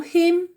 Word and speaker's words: him: Do you know him? Do you know her? Complete with him or her. Donc attention, prononce bien le H.